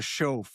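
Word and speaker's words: Shoaff: Schoaf. It's Show, chauffeur. yeah, show.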